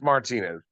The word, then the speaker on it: Martinez: right okay we'll stick with that but it's Martinez Tony Martinez right that's how I've pronounced it my whole life you know I